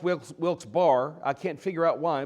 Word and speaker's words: Wilkes-Barre: We started in Philadelphia and then went over to Harrisburg and then to Strasburg and then to Wilkes-Barre, which should be pronounced Wilkes-Barre.